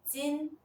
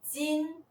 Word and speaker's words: 金: The pinyin for 金 is jīn. its initial is j. Its final is in. The tone is the first tone. Let's try pronouncing it together. Jīn, Jīn Why don't you try reading it out yourself?